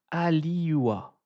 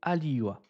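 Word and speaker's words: Halioua: s'appelle Emmanuel Ali, je vais je vais bien prononcer son nom, je vais regarder Emmanuel Allô Alors alors c'est Emmanuel Aliua H A L I O U A Emmanuel Aliua euh qui a donné une définition un peu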